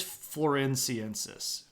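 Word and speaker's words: floresiensis: me yeah here we go yeah it is florensis okay I just had to look it up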